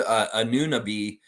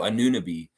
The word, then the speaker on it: Anunoby: Mike said, I actually heard Anunoby the other day from the Bucks or Celtics announcers. I know, Anunoby.